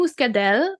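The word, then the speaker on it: Muscadelle: and muscade mus mus it has two L's but an e at the end so we're gonna go muscadel is what it looks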